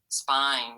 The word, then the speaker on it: spine: say spine spine ready i hear a long eye so if i wanted to make this say spine what would i have to add to it you're right the e on the end there spine so very important that